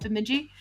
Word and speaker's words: Bemidji: That's how you pronounce it, Bemidji.